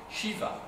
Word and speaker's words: Shiva: ça peut être Shiva ça peut être cédi ivea enfin vous voyez il y a plusieurs transcriptions possibles et ça se prononce Shiva en tout hypothèse alors Vishnou c'est le